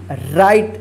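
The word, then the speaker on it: write: आर आई टी ई राइट देखिए य पे डब्लू जो है ना यहां पर साइलेंट है ठीक है इसका उच्चारण नहीं हो रहा है राइट ठीक डब्लू आई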